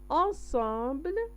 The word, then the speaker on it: ensemble: ensemble هنا احنا كنشوفوا هنا ان وهنا ام عندهم نفس النطق، ولكن لان هنا كاينه بي كتكون بي وراء ان او بي كتكون ام.